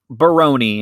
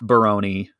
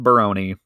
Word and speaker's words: Barone: a couple times on the podcast mr eric barone and it is pronounced baroni um when we fir were first saying it